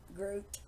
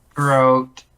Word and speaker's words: Groot: He didn't even say it right. The bot doesn't even know how to say Groot. Groot. Groat. Groot.